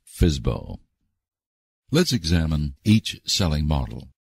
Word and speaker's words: FSBO: A private seller is referred to as a for sale by owner, or FSBO, which is pronounced FSBO.